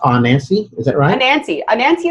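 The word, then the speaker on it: Anansi: growing and now you're running your own agency Nancy I hope I'm saying that right is eight in a 10 s correct yeah well this pronounced on Nancy is it Ryan auntie Nancy is the spider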